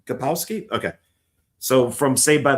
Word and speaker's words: Kapowski: How do you pronounce her last name? Kapowski.